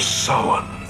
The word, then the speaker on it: Samhain: It's because people nowadays don't respect the classic traditions of Halloween, or as he correctly pronounces it, The Festival of Samhain.